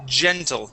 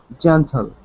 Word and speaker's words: gentle: good now this uh G is pronounced gentle with the J sound instead of hle it is gentle try that gentle good nice job here